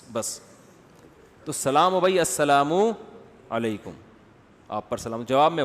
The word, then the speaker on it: السلام علیکم: السلام علیکم اور صلی اللہ علیہ وسلم کا صحیح تلفظ بتا دیں. السلام علیکم کا ہے السلام علیکم.